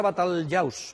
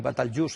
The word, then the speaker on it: Batalyaus: La palabra Batalyaus, en árabe literal, y Batalyus en pronunciación popular, es un topónimo prerromano de las lenguas indígenas que hubiese aquí anteriores a los romanos.